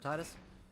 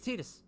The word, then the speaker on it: Tidus: to call them something so everyone calls them titus but he's tidus i swear oh man that was that was